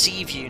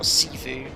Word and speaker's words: Seaview: It's pronounced Seaview, not Seavu.